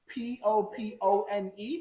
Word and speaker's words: Popone: Papone. Papone? Yeah. Papone? I don't even, did I buy that? Popone. Okay. How do you say that? Popone? Correct.